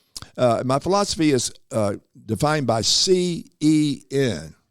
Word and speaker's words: CEN: My philosophy is defined by CEN. Sounds like sin, but it's spelled with a C, right?